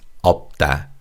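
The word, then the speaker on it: 없다: The first syllable up has aim of p and sh. And sh is silent when you say this word. So it's opta.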